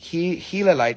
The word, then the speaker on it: Giladite: inclusion is giladite or pronounced hila light like Gila monster if I can actually